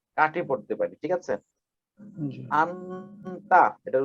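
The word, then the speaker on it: 앉다: আন্তা, এটার উচ্চারণ হবে কি আন্তা, আন্তা অত বসা, আন্তা অত কি বসা, আন্তত্ব বসা, আন্তত্ব বসা।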